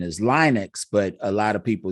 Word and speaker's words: Linux: I've always been interested in it, and I think the correct pronunciation is Linux, but a lot of people do call it Linux.